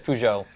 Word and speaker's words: Peugeot: over us French citizens just Europeans about the pronunciation of I I've always heard as pujo somebody actually did some uh you know pronunciation